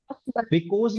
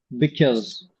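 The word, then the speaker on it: because: क्यों वा सो क्योंकि बिकॉज बिकॉज नहीं बोलना है देखो मेरे साथ बोलो बिकॉज नहीं बोलना आप बोल ना बिकॉज देखो कितना मैं दोनों वर्ड को प्रोनाउंस करता हूं एक सही एक गलत तो देखना क्या बढ़िया लगा बिकॉज बिकस क्या बढ़िया लग रहा है कोपी कर सकते हो बोलो सारे बिकस बिक हा देखो ये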